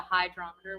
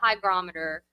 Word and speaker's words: hygrometer: I keep wanting to call it a hydrometer when we're on here. I don't know why. There's a G. The hygrometer.